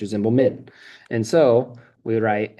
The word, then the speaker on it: Zimbelman: And then Min, okay, it doesn't say, I don't say Zimbelman. My name's not Mr. Zimbelman, it's Mr. Zimbelman.